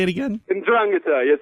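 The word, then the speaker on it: 'Ndrangheta: Ndrangheta, yes. So the stress is on the second syllable.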